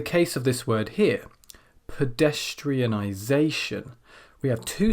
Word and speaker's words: pedestrianization: as you do this say the word pedestrianization pedestrianization now for every beat that appears and there should be seven of them this is a